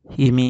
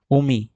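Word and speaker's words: 海: গাঞ্জি ওগনি কি মাছ ইমি ইমি হবে না এটা উমি এটা হচ্ছে উমি কামি কামি মানে হচ্ছে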